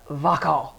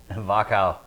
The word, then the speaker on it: Wachau: We spent some time in Austria and the Wachau. Wachau. W-A-C-H. A-U. It's it took me forever like trying to pronounce it correctly, but it's a gorgeous area,